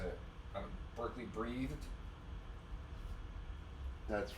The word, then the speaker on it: Breathed: Berkeley Breathhead. Yeah, I can't say his name. I don't know how to say it. Berkeley Breathed.